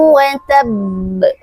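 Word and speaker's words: وَتَبَّ: Cara membacanya adalah berikan dulu tasdidnya baru kita ee berikan sifat qalqalahnya. Watab. Jangan sampai kita membaca watab. Masih sering kita mendengar eh teman-teman kita sekeliling kita membaca lahab watab. Nah, jadi teman-teman mulai saat ini mari kita perbaiki bacaan kita dengan menyempurnakan tasdidnya baru kita sempurnakan qalqalahnya.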